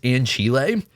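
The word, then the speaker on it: Ancile: I'm pretty sure technically this is pronounced Anchile. That just sounds so, like, bizarre. Like, I'm assuming, yeah, I don't know. We're calling it Ansel. Ansel is so much easier to just say.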